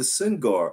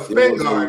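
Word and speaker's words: Spingarn: of us don't know what the syngar award was if i was pronouncing it right no spin guard is what it is right spin s-p-i-n lingard yes all right most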